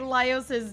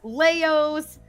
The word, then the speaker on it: Laios: And she could not say Laios' name for the life of her. Every other pronunciation was like Leos, Laihos, Leiros.